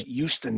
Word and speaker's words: Houston: literally is you know i believe it's houston not houston and it is houston yes yes for sure